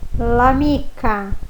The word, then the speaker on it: l'amica: E automaticamente eu leio a palavra como se fosse uma só.